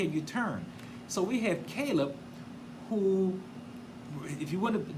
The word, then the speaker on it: Caleb: But if you pronounce it as Caleb, it means like heart. Like heart. That means like a heart of a man who has discernment.